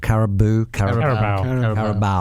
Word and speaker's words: Carabao: Carabao.